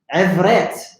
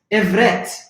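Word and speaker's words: עברית: It's called, Hebrew, in Hebrew, it's called Ibret. Ibret. Ibret. It's called Ibret. Ibret. Ain, Ba, Rosh, Yet, and Yod, and Ta. Ibret. They pronounce this Ivret. Ivret. A is A. Ba is Va. They pronounce Ivret.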